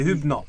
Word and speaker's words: Hübner: avec la Senzai, mais Alors, si tu veux avoir une prononciation qui se rapproche vraiment de l'orthographe et de ses origines, c'est Hübner.